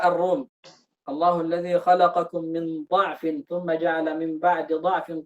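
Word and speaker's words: ضعف: Allahu alladzi khalaqakum min dha'fin thumma ja'ala min ba'di dha'fin quwwatan thumma ja'ala min ba'di quwwatin dha'fan wa shaybah. Ini boleh dibaca dhatnya, boleh dibaca pakai dhammah, boleh juga dibaca pakai fathah.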